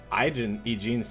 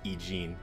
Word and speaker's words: Eugene: Eugene's choice. Gotta say her name right. It's not Eugen, it's Eugene.